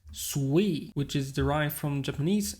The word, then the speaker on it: SUI: In their documentation, they actually say it's pronounced SUI, which is derived from Japanese and means the